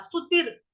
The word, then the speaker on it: स्तुतिर्: दिखाई दे रहा है, उसका उच्चारण आप लोग करोगे ती के बाद, स्तुतिर, स्तुतिर। ये रफार वाला र कहाँ लगेगा? ती के बाद में लगेगा, स्तुतिर।